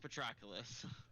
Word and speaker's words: Patroclus: ever going to say his name it is pronounced patroclus well he's gonna have to make that we